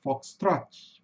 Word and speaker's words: Foxtrot: Esse fenômeno acontece também com v falar fox trot. Pessoal fala fox trot, né? Cuidado com esse i no final.